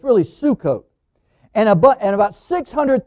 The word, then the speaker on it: Sukkot: now that's called pronounced suck-off but the way it's spelled in the old english but it's really sukkot and abu and about 600 000 on foot